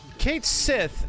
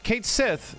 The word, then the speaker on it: Cait Sith: like oh okay and the way you pronounce that character's name is apparently like cat sheep so I'm like oh